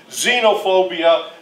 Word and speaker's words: xenophobia: and then xenophobia and yes that's an x but it's pronounced with the z xenophobia is where you have